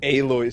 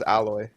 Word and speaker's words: Aloy: Oh, you said Aloy skin. So Canadian. That's the way you pronounce her name. Oh, is it? Never mind. Yeah. I thought it was alloy.